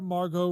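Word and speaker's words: Margot: all right and poor Margo Robbie there is a t in Margo did I spell it m m a r g o huh that's right Mar go so silent T got it okay she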